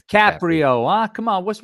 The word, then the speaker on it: Caprio: It's Caprio.